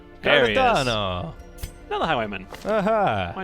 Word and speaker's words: Cardano: Do we not spell that right? Cardono? D-A-N-O. D-A-N-O, Cardano. There he is. Cardano.